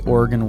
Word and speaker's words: Oregon: with that yeah and did i say oregon right it's oregon oregon oregon oregon like the like an organ i know that